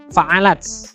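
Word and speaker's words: فعلت: Nah, tak sukun ya. Jadi bacanya fa'alat.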